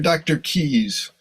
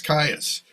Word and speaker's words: Caius: is it uh Dr Caius or Dr keys do you think it's Keys College Cambridge and that's that's spelled Caius but it's pronounced keys so you know you